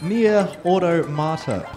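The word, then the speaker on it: NieR:Automata: I have a $16.18 donation from Anonymous, just saying, it's pronounced Nier Automata.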